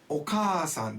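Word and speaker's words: お母さん: Okasan, that means mother. If you didn't say the double sound in Japanese, Okasan, that means Mr. Oka.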